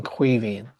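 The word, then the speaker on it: Caoimhín: we would know that it's pronounced as a V and a G sound, a H sound. So you lose the sound of the G in pronouncing Cuivin.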